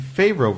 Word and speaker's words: Favreau: the Favreau version because it sounds like Pharaoh.